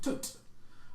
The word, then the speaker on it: Thot: He is called Tot, spelled the same way as the Egyptian god. Is that T-H-O? Yeah, it's like T-H-O-T, Thot. That's Thot, yes. But pronounced Tot.